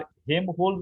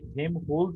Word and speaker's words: Helmholtz: এটাকে কেউ বলে আবার হেম হোলস রেজোনেটর বলে, কেউ হেল হোলস রেজোনেটর বলে। এটার উচ্চারণটা বিভিন্ন মানে অ্যাকচুয়ালি এটা জার্মান ওয়ার্ড, তার উপর বেস করে এটার উচ্চারণ হয়। তোমরা শুধু এখানে হেম হোলস এই হিসাবে এটাকে মনে রাখার চেষ্টা করবে, বা এখানে বানানটা যেটা আছে HELMHOLTZ, এটাকে হেম হোলস রেজোনেটর আমরা নর্মালি বলে থাকি।